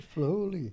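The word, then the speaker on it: Flahooley: Flay Hooley, am I pronouncing that correctly? That's right, Flay Hooley.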